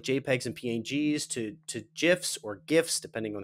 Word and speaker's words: GIF: JPEGs and PNGs to GIFs or GIFs, depending on how you like to pronounce that, graphical image format. It's GIF. If you say it another way, you're probably a serial killer.